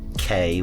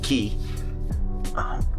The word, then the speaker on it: Cay: It's not K, which is spelled C-A-Y. They pronounce it Key.